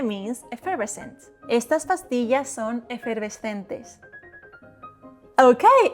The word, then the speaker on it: efervescente: Dry consonants and open vowels that don't change. It is te and not te. Effervescente. Vowels don't change. Consonants are dry. Efervescente. Efervescente means effervescent. Estas pastillas son efervescentes.